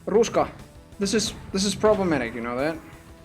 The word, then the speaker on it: ruska: It's spelled R-U-S-K-A, and it's a Finnish word for autumn foliage, or just autumn in ancient Finnish.